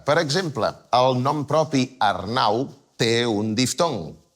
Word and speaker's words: Arnau: Per exemple, el nom propi Arnau té un diftong. Ar-nau. La A i la U són dues vocals que estan juntes i es pronuncien en una mateixa síl·laba.